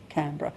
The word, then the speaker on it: Canberra: She stood up and she said on March the 12th, 1913, "This place shall be named Canberra and it will be pronounced Canberra."